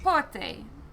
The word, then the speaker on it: prêt-à-porter: Prêt-à-porter. That's how it's pronounced.